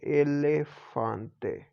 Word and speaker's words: elefante: E pronounced in Spanish like A. See, como A. Like if a word we say elephant. En español, elephant se significa elefante. So, elefante. So, it's A.